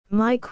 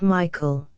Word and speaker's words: Michael: store but insisted that the way to pronounce it was Mike not Michael I never knew such